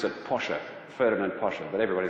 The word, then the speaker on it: Porsche: anyone tell me who it was actually you pronounce it Pasha Ferdinand Porsche but everybody says Porsche so that's how that'll do but the same